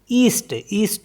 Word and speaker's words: est: जैसे EST ईस्ट एक direction हो गई, तो इसको भी T पढ़ते हैं लास्ट में।